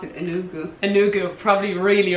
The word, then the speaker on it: Enugu: Enugu. Okay, Enugu, yeah. So I like the way you pronounce it, Enugu.